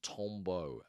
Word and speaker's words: tombeau: So temps beau forgive my awful French pronunciation but temps beau with an n sounds remarkably it's a homonym. It sounds exactly the same to a French ear as tombeau t o m b e a u which means gravestone and